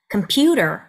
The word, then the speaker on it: computer: 네, 강세가 중간 음절에 있죠. 자, 근데 만약에 이것을 computer, computer 이렇게 발음하면 다다닥 이렇게 지나가는 느낌이 들기 때문에 강세 음절을 조금 늘려줍니다. computer, computer 이렇게요.